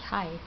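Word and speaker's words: hej: It's the same as in English, hi, but they spell it like this.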